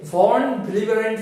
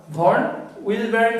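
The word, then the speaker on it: von Willebrand: তার মধ্যে একটা অন্যতম ফ্যাক্টর হচ্ছে ভন ভিলিবারেন্ট ফ্যাক্টর, এটা জার্মান নাম, খুব ডিফিকাল্ট উচ্চারণ করা। ভন উইলবারেন্ট ফ্যাক্টর বা ভন ভিলিবারেন্ট ফ্যাক্টর, যা ইচ্ছা বলতে পারে, ভন ভিলিবারেন্ট আমি বলছি।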